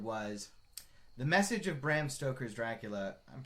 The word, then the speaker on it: Stoker: Uh and his very specific idea going forward was the message of Bram Stoker's Dracula. I'm pronounc it's Bram Stoker not I I I always say Braum Stoker is it is Stoker though.